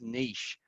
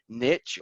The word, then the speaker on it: niche: world about marketing and the word niche or as a lot of Americans say niche or have even heard me Shay I'm interested too how you say that's all gonna launch a quick poll of how you say niche so I've sort of written them as I think phonetically it gets said so I say niche that's how I got got brought up but I think a